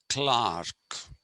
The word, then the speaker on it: clerk: this queen's english was you don't say clerk you say clark okay so a government